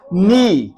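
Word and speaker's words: knee: पर W silent है नी के एन ई ई उसमें वो के क्यों साइलेंट है ये आपको पता होना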